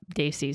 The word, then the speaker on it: Desi: It's so they, like the word they, and then see.